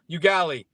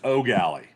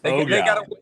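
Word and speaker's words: Eau Gallie: And Baylin, one day I'm going to get you to pronounce it correctly. It's O'Galley. It's O'Galley.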